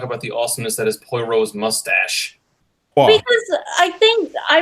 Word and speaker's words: Poirot: He's the fellow that made that insane Poirot movie not too long ago.